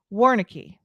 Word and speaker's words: Warncke: i am going to try to pronounce his last name warnicky let me see if he's looking at me backstage is it correct okay he's saying yeah okay good good has